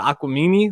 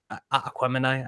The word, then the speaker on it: Aquemini: I'm like listening to Aquamini, like Aquemini. I know I said it wrong. I Aquemini, say Jesus. Aquamini. Yeah, I've always said Aquamini. I know it's Aquemini.